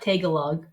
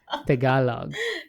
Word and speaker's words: Tagalog: I said t-e-g-e-l-o-g oh okay no it's not Tagalog Tagalog yeah yeah no you pronounced it really well oh there's so many